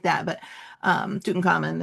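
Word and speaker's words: Tutankhamun: But um Tuten Common is I guess the correct pronunciation.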